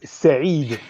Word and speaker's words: Said: like Arab Arabic is say but we say just said you can say just said like past yeah like saying past simple okay say thank you